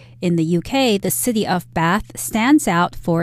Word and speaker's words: Bath: Indeed, and I should also mention that Bath is the American pronunciation. If you're talking to someone from England, they're likely to say Bath, the city of Bath.